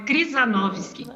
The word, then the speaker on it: Krzyżanowski: Pois é de descendência polonesa e ucraniana, então é Krzyżanowski. Viu? Krzyżanowski, agora eu consigo.